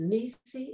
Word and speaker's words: NiSi: And even the people from, the guy from, was it Nisi? Is that how you pronounce it?